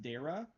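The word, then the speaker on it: Daragh: It's like D A R A G H or something like that. And I think it's pronounced Dera. Um, but like that was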